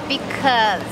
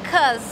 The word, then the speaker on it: because: Cuidado com a pronúncia dessa palavra, gente, because, because. Que a gente fala, cause, cause.